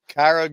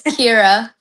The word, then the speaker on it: Kira: Is it Kyra Good? It's Kira. Kira.